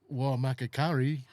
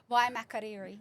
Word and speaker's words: Waimakariri: How did you say it? Oh, not as well as that. It was Ah, Waimakakari. Waimakariri. Yeah.